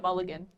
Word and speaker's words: mulligan: Factory Milligan go. I think in your end step, I'm going to basically land cycle. It's pronounced Mulligan.